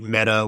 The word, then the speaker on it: Mehta: I think the judge's name is Amit Mehta, which is hugely ironic, but it's not spelled like Meta Platforms. It's spelled Meta, M-E-H-T-A.